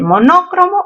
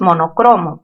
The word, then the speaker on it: monocromo: ¿Monócromo o monocromo? Lo correcto, chicos, no es monócromo, es monocromo. Palabra grave terminada en vocal no se tilda.